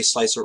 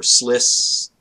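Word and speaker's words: Slic3r: something dangling after it, following English rules, generally you would pronounce that C with an S sound, a sibilance. So you would say slice or sliss, and then the rest gets funky, but you would say 3R, right?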